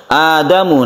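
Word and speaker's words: آدم: Adam ini A-nya ini disebut dengan mad badal ya. Bacanya satu alif, mad badal, badal artinya ganti, yang asalnya itu adalah adamu menjadi adamu, kita panjangkan a-nya.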